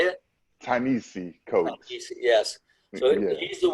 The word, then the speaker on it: Ta-Nehisi Coates: Ta-Nehisi Coates. How do you say it? Ta-Nehisi Coates.